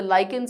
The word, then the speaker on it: lichen: called lichens yeah uh it is ch but the pronunciation is kin like kin see there are many